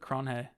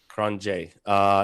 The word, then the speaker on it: Cronje: So really quick, Andre, how do you pronounce his last name? Cronje or Cronje. Cronje.